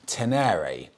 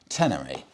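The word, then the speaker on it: Ténéré: pulled up on this I was pronouncing the Yamaha tener wrong as well it's the Yamaha tener so apologies but that's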